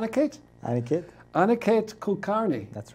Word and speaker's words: Aniket Kulkarni: everyone does on a Cates I think it on a kata Kulkarni that's right okay would you pronounce it now I'll pronounce it I usually do Anna Kate Kulkarni that sounded approximately what I say yes that's